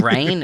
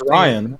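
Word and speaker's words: Rian: Is it Rain? Is his name actually pronounced Rain? Rain? I know it's Ryan. It's Ryan, but it's R-I-A-N.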